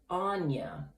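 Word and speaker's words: Áine: first of all the the goddess herself yes pronounced anya so i did pronounce it incorrectly sorry for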